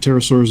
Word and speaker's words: pterosaurs: sorry that's nice a the P is silent pterosaurs or pterodactyls are flying